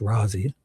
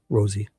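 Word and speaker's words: Rozzi: I'm only joking though because I know it's Rosie, Rosie, and Ma.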